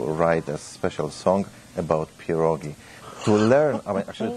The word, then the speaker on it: pierogi: to learn i'm actually to teach people how to pronounce this word because sometimes people are say they are saying p roggies and like a double as I mean you-you-you is already the parole so one PA rule and many puro gives